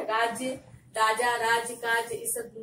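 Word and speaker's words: राज़: ठीक है, राज्य, राजा, राज, काज, इस ये जो है वही वाला राज हो गया, राज्य। और अगर नुक्ता लगा देंगे तो इसका उच्चारण होगा राज, इसका अर्थ हो गया रहस्य।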